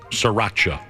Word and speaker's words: Sriracha: Sriracha is how you say it.